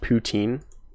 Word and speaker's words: poutine: is all of the AMA topics poutine it's pronounced poutine I'm sorry I don't I don't know I